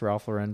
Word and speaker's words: Ralph Lauren: like it is pronounced Ralph Lauren.